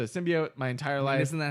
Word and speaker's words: symbiote: yeah which I hate they pronounce it sim bio which I don't like and it's like for for me at least I think you're in the same train Bo yeah it's a symbiote my entire life isn't